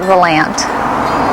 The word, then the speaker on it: Volant: I pronounce it Valant. Well, I just think that's what the locals have always called it. And, you know, everybody that's from around this area calls it Valant.